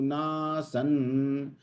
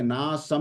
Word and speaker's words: नासन्: न त्वे वाहन जातु ना सन, देखिए ना सम नहीं कहा मैंने, ना सन, क्योंकि न है ना उसके आगे ब्रैकेट में। ना सन न त्वन्ने में जनाधिपाहा।